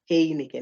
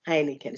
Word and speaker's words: Heineken: People say Heineken. No, it's Heineken.